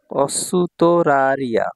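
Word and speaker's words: オーストラリア: হচ্ছে অতঃপর বা তারপর অস্তরারিয়া অসুতরারিয়া অস্তরারিয়া এভাবেই উচ্চারণ করা হয় সঠিক উচ্চারণ হচ্ছে অসুতরারিয়া অস্ট্রেলিয়া ঠিক আছে ভাইয়া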